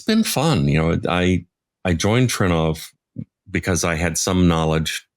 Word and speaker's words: Trinnov: Am I pronouncing it right? It is. Yes, it is Trinnov.